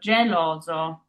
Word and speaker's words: geloso: And then we have our singular S here sandwiched by two O's, which are vowels. So it's that Z sound, that zipper sound in English. So zo. So geloso.